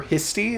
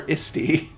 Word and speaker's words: Histoire: if you've noticed, but they don't actually call her Histy. They call her Isti. They haven't been pronouncing the H this entire time. Exactly. Why would you? Because it's French.